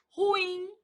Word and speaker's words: ruim: Ruim. Ruim é uma palavra oxítona.